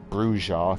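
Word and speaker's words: Brujah: Where the Blue Bloods think of themselves as rulers, the Bruja, or Bruja if you want to use their proper pronunciation, like to see themselves as preeminent revolutionaries.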